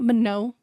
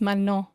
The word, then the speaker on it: Manon: Her name is not Manon. It's not Manu. It's not Manon. It's Manon. Manon. It's not hard to say her name properly.